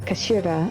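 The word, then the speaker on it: 頭: end of the hilt written as head in Japanese but it's pronounced as Kashira I believe Kira's words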